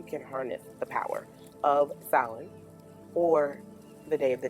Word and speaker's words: Samhain: Samhain, which I know how it looks, but it is pronounced Samhain, originates from ancient Celtic